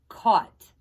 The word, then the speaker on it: caught: the boy cost or caught right the gh is silent and that says caught so he caught a